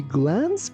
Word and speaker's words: glance: She glanced behind her to see if he was looking at her. Here, be careful that letter C sounds like S. So we say glance.